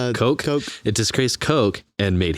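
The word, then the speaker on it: Koch: Coke.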